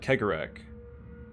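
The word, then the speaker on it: Cegorach: recall that harle Quinn served the Laughing God karak I said it I said it right that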